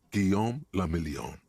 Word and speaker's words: Guillaume la Million: Guillaume la Million. I'm French? If it doesn't rhyme, you're not pronouncing it right.